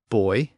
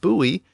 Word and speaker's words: buoy: can be very noticeable so the differences between boy and buoy may not seem all that big linguistically but